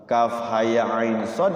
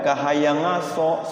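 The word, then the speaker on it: كهيعص: harakat diikhfakan ke Ain Kaf ha ya ain Shad ke shadnya diikhfakan shadnya en harakat diqolqolahkan Bagaimana cara bacanya tuh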